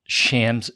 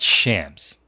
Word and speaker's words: Shams: called the NBA Insider shams sharanya yeah that's his name yeah bro it's not Shams it's shams if you're covering Sports you should probably know how to say his name correctly oh yeah well I'm